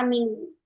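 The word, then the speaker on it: عملوا: Kemudian yang dal amilu ini ada satu huruf yang ditulis tapi tidak dibaca yaitu apa ustazah? Alif fariqah namanya alif fariqah ya. Kita tidak membaca dia amilu a amilu i amilu u. Enggak. Kita bacanya hanya amilu.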